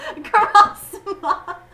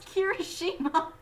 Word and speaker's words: Kirishima: Kurosama. Is that how you say his name? No, it's Kirishima. Shima.